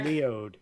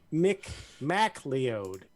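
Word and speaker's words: Kevin MacLeod: McLeod. MacLeod, if you want to be all Americanized with the pronunciations incorrectly.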